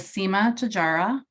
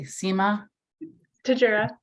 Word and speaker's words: Seema Tejura: And I'm thrilled to be hosting this Literacy Lunch and Lead session with Seema Tejura. No, I didn't say it correctly. Seema Tejura.